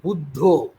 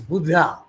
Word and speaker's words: Buddha: of buddho uh in in bang you know we pronounce it as budho budho but in English uh it is Buddha Buddha Buddha anyway uh